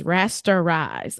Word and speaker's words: rasterize: I always say that wrong. And my husband always gets on me about it. He's like, "You're not saying it right. What are you saying? It's rasterize."